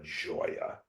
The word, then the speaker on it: Gioia: my name is Joya and although Joya sounds like it's a j because it's pronounced like a j because there is no J in the Italian alphabet so you have a